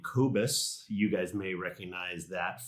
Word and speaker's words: Kobus: I pronounce his name Kobus.